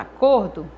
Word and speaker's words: acordo: Na palavra acordo, o cor eu pronuncio com mais força, então o cor é a sílaba tônica dessa palavra.